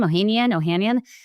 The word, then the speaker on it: Ohanian: Alexis Ohanian, is that how you pronounce his name? Ohanian.